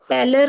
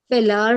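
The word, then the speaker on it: pallor: पैलर को आप पैलार बोल रहे थे।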